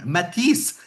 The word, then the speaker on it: Mattice: Katherine, welcome to the show and I hope that I have pronounced your name because it's a French name, Matis, right?